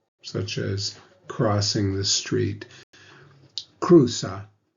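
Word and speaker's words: cruza: as crossing the street Kusa remember the Z is pronounced like an S Kusa is studia EST studia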